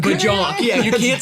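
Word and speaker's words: Björk: Do I look like I listen to Bjork?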